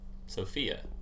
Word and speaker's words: Sophia: I think the second syllable is the stress syllable. Yeah. Sophia.